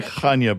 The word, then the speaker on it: Chania: Which is the other main And And I would say Chania, by the way, is the way that I heard the people there pronounce it, but Excellent.